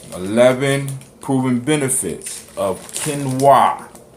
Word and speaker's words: Quinoa: Is known as quinoa, spelled Quinoa, right? A lot of y'all might be saying quinoa or whatever, but it's pronounced quinoa, right?